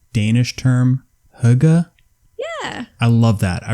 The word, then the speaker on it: hygge: by the way it's it's oh it's hygge yeah is that what i said i was going to say higgy basically it's definitely not higgy it's spelled h-y-g-g-e but you're right i think the pronunciation is right yeah danish or a